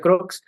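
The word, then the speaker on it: Crookes: todas sus estudios a este señor cres como me gusta decirle se pronuncia croc Pero él es un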